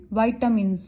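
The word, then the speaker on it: vitamins: अच्छा, इसकी pronunciation right क्या होती है? Correct pronunciation is वाइटामिन्स, speaking में ध्यान रखना।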